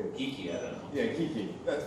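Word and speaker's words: Geeqie: So the only ones I really knew of were Geeky. Somebody pronounces for me, Geeky, I don't know. Yeah, Geeky.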